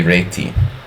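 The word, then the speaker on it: Réti: Hungarian pronunciation is really reti.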